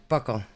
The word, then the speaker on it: buccal: And being that vile over the memory size of an iPod Touch, and it's pronounced Buccal. Buckle.